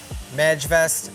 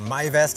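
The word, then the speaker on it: Majvest: the standard white house wrap to this sega mag vest or my vest as it's pronounced 200.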